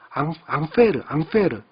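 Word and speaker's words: Ampère: 이거는 이제 사람 이름이에요. 앙페르. 이 사람의 이름인데 그 사람의 첫 번째 문자 A를 따서 앙페르라고는 안 하고요. 그건 이제 발음상 그런 거고요. 암페어라고 하는 단위로 읽는다.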